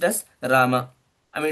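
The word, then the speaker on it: राम: is they I mean usually pronounce it as Ram instead of pronouncing Rama. The original pronunciation is is when you write unless you have this haland it's pronounced as Rama I mean it's not Rama but not Ram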